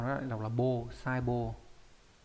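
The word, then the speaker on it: 細胞: Có hai cách đọc là bô và hô, đây viết rõ ra đây nhá, sai bô. Trong đây đọc là sai bô này, còn trong cái từ đồng bào này đọc là hô, đô hô.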